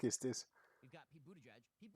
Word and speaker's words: Buttigieg: We've got Pete Buttigieg. Pete Buttigieg used to be like a B. Oh, that's how it's pronounced.